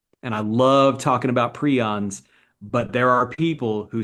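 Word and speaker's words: prion: And I just know when I put that video up and I talk about prons there's going to be comments that say you're pronouncing it wrong. It's pryion.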